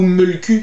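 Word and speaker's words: Mölkky: Contrairement par exemple à un sport cousin, le Molki ou Mulku, si l'on prononce bien.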